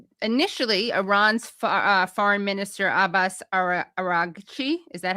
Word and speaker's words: Araghchi: So initially, Iran's foreign minister Abbas Araghchi, is that how I pronounce it? Araghchi?